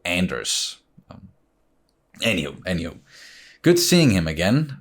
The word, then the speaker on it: Anders: I'm like, oh, that's Anders, because it's a very typical Danish name. Whereas, if you pronounce it in English, you don't, it's not a soft D, it's more of a hard D, so Anders.